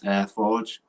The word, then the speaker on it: AireForge: So some of my favorites, first is a product called AirForge, which is spelled AIREFORGE. That's AirForge. And that is a Windows